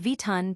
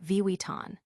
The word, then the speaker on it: Vuitton: Even the globally recognized Louis View can be tricky with Vuitton being a common error when it should be Vuitton.